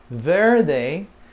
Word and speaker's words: verde: that Verde and there the r is not real strong it's almost like a th sound there they there are they okay with the D the D is not strong in Spanish it's not very strong